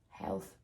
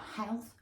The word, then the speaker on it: health: So it's like you're saying thanks, or like V. You need to be able to feel the air coming out.